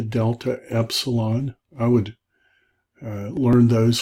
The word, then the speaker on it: epsilon: Epsilon, so epsilon is the word smooth, so smooth sounding E, as in bed or epigram, bet, peg. Alpha, beta, gamma, delta, epsilon.